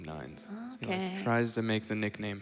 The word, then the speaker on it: 9S: to mankind oh yeah have I been saying it wrong this entire time is it N9 uh it's 9s but he wants everyone to call him nines tries to make the